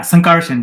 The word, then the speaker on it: Sankarshan: Yeah, Sankarshan, just like it's written.